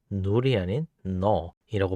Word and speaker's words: null: 자, 그리고 아무것도 없는 것을 의미하는 이 자료형은 null이 아닌 null이라고 발음하고 참, 거짓이나 일령 같은 불린 자료형은 boolean이라고 합니다.